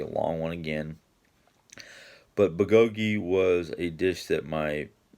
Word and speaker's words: bulgogi: It's I used to call it puh, but it's not. It's or bulgogi.